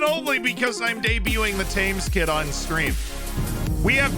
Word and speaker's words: Thames: pronounce english river moniker everybody in the united states calls it the thames river so i i'm just gonna go with that i know ben says tim's but ben says a